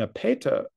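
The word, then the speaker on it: ἔπειτα: So again, post positive here, and epeta, epeta, put accent on the antipenal, this first epsilon.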